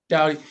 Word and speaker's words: Dowdy: Coleman and I, Clyde Dowdy, did I pronounce his last name right? I think it's Dowdy. Yes, I believe so. Dowdy.